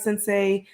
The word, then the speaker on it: Sensei: including i believe it's sensitized sensei that's how you pronounce that so how those are